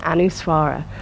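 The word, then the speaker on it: अनुस्वार: we come back and this sound is made through the nostrils it's not a like an M you can actually make an M sound through the nostrils just try kind of making a pure nasal sound you can feel and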